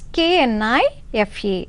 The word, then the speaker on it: knife: given in the sentence k n i f e but which letter is silent k is silent knife to get a